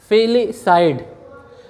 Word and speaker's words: FILICIDE: इस वर्ड का जो सही प्रोनाउंसिएशन है फिलिसाइड।